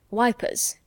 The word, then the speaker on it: Ypres: Tommies call it Passchendaele just as they called ypres wipers how interesting you know mr.